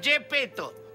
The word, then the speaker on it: Yepeto: admirado un profesor llamado gps peto se pronuncia gepetto mi amado es espetó